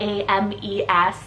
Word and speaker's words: Ames: been also crushing on the name Ames spelled a-m-e-s Ames you guys know this is one of